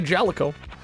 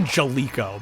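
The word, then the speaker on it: Jaleco: Goal by Jalico. I used to say Jalico, but I think it actually is pronounced Jalico.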